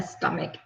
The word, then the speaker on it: stomach: doctor, I have a stomach ache. Okay, let's see. Oh, for this word, stomach, just be careful of this. Okay, it's not stomach, not this. The sound is a hard sound, like a K.